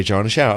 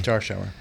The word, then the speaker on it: Jarschauer: Exactly. Like a jarn in a shower. Okay. Jar shower. Okay. Jar shower.